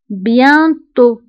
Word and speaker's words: bientôt: كتعني قريبا بيانتو بيانتو فبالنسبة لبيانتو هنا أيضا أو كنكتبوها بالأكسان سيركونفليكس وتي في آخر الكلمة ما كنطقوهاش فنكتبوها ولكن لا ننطقوها نقول بيانتو bientôt depuis depuis كتعني منذ